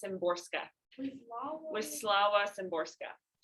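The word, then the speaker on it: Szymborska: to pronounce her name i think the z is silent i think it's simborska with slavas and borska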